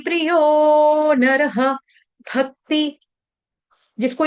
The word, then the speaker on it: भक्ति: प्रियो नरः, भक्ति, भक्ति भ भालू वाला, भ के ऊपर आघात, आधे क का, भक्ति, भक्तिमान में प्रियो नरः।